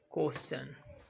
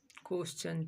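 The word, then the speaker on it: question: क्वेश्चन चौ का उच्चारण आ रहा है, क्वेश्चन।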